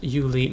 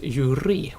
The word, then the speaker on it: Yuli: the voice actors uh pronounced Yuli Mizrahi as Yuri with an r instead of the L uh that's um well